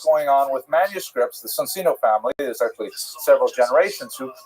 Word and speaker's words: Soncino: I will probably Cino because I was born in North America, but it is in situ it would be pronounced Soncino.